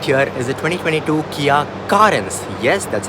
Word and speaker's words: Carens: this right here is a 2022 Kia currents yes that's how you say it now Kia